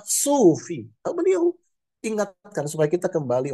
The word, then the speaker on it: sufi: Dan kami juga tahu bahwa pengucapan yang benar itu adalah sufi.